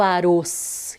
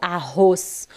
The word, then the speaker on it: arroz: eu tenho o arroz Eu não falo aroz eu falo arroz o nome do alimento permite que seja forte ele pede para que seja forte então eu coloco mesmo estando entre duas vogais eu coloco dois RS nunca tem essa dúvida